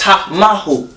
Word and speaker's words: Tamahu: It's actually pronounced Tama. And he just says Ta. It's Tamahu.